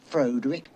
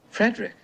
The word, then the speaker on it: Frederick: no it's pronounced frankenstein do you also say frodrick no frederick well why isn't it